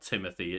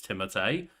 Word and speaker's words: Timothée: Yeah, and that was one of those where that I saw people talk about the fact like, well, no, technically his name is not Timothy, it's Timothée.